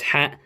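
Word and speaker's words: ح: It is a sharp H coming out of your vocal cords.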